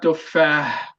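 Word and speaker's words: تفاح: It's not tufah, it's tufah. Okay? It's like you we will learn how to do that heavy letters.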